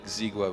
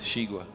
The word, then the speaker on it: Shiga: the miror match up it's not a ziga by the way it's Shiga Shiga yeah oh yeah I'm pronouncing it like a French that's not good oh